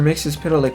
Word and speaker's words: Mxyzptlk: He said, to pronounce his name it's Mxyzptlk.